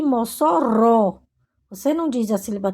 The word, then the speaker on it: Mossoró: Maringa você diz Maringá então G é a sílaba tônica mangua quá e Mossoró você não diz a CBA T se fosse